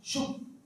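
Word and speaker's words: שוב: es la palabra en hebreo usada acá se pronuncia shv corta que significa arrepentirse significa arrepentirse significa volver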